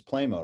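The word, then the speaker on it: Pleymo: a big you know a big band was playmo right is that how you say it yeah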